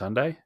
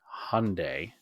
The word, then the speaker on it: Hyundai: Hyundai sundai Hyundai Hyundai I always say Hyundai because it's how it's spelled that's how I remember how to spell it Hyundai no it's Hyundai it's not Hyundai so um if you